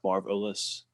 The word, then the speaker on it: Marv Ellis: at Marv Ellis, and it's abbreviated like Marv OHLIS because of I wanted people to know how to pronounce my name, like Marv Ellis. Yeah, Marv Mm, Ellis. Yeah, but marvelous.